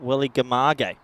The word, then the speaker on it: Welligamage: and receive 3 calls, that it's pronounced Welligamage. I think I said that correct, so my apologies.